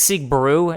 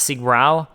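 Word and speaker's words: Siegbräu: use the Sig brw apparently it's Sig Brew not Sig at least I think that's how you pronounced it Sig Brew anyways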